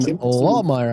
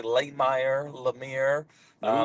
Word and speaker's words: Lahmeyer: Jackson Lawmire. I believe I'm pronouncing that correctly.